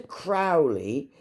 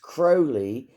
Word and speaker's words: Crowley: slow down a minute aliser Crowley that's how his name is pronounced but he liked it pronounced crowy because it rhymed with holy it's the same with